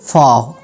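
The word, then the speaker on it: faux: मुझे जो सिर्फ एक वर्ड मिला जिसमें X साइलेंट है, फाव, फाव.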